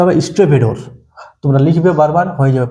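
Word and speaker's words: stevedore: এটা হচ্ছে কি বলবো, স্টেভেডোর, উচ্চারণটা হবে স্টেভেডোর।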